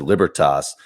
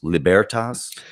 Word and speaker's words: Libertas: So I think I got the pronunciation of the institute wrong from the start. I said Libertas, and it's Libertas.